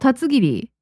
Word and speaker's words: Tatsugiri: It's called tatsugiri. Tatsugiri. The English pronunciation.